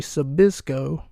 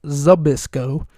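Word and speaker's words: Zbyszko: and I played Larry Sisco sorry I pronounced his name wrong it's abisco and um he played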